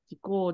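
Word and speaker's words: 事故: Kaasan no ryoushin wa kaasan ga 5 sai no toki ni hikouki jikken, it's not pronounced jikken, hikouki jikko de shinde kaasan wa ojiisan ni hitorareta.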